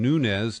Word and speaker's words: Nunes: as a republican uh he pronounces his name nunz not nunz as most California Latinos might anyway he went on to